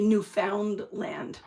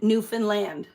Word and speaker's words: Newfoundland: It's like here you wouldn't say new found land. New found land. It's not. It's Newfoundland. Understand? Newfanland. That's how you say it.